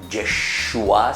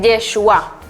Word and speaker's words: Yeshua: Yeshua se dice en hebreo. Yeshua, que la traducción en castellano quiere decir Jesús. ¿Cómo se dice entonces Jesús en hebreo? Se dice Yeshua.